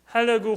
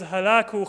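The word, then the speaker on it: Hulagu: In Islamic languages, in Arabic and Persian and Urdu, he's known as Halaku Khan. And that's not actually the proper pronunciation of his name, but halak is the Arabic word for annihilation.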